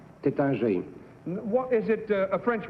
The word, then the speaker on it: Taittinger: How do you pronounce it correctly? Tatingar. Number 3, how do you pronounce that correctly? Taittinger.